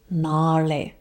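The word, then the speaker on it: നാളെ: And it's important to study the pronunciation because in Manglish, it may look like innale and nale are pronounced the same way because they have N-A-L-E. But this is why it's important to know how to read or understand the differences, because innale is with the front L.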